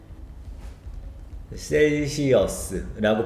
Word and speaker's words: Celsius: 아, 이건 발음만 알려줄게요. 셀시어스라고 발음하면 됩니다. 10 Celsius tonight.